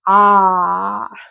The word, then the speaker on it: Ailm: So we're talking about the a um but it is pronounced ah like ah we're finally to the vowels.